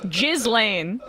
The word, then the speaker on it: Ghislaine: Ghislaine. Yes. Ghislaine. He's been listening to this show. He's got caught Sam's pronunciation bug.